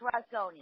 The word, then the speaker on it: Rozgany: Do I ever pronounce that correctly, Lisa? No, it's not, but it's okay. It's Rozgany, but that's okay.